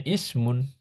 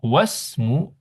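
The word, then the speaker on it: اسم: kayak ini misalkan bacanya Ismun ya ismul waladi Muhammadun nah ini kalau di awal bacanya Ismu Ya tapi kalau di tengah tinggal di wasal kalau di tengah langsung wasmu ah kalau di tengah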